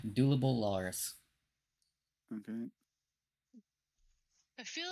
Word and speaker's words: Dulubul Larz: when I said it I'm just gonna write it how it's spelled how it's pronounced dullable Lars yeah dulable Lars okay I feel like